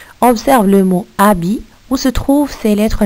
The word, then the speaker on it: habit: Alors le mot habit, il a une lettre au début qui n'est pas prononcée, c'est le H. Il a une autre lettre à la fin qui n'est pas prononcée aussi, c'est le T. Alors les lettres muettes dans le mot habit sont le H et le T.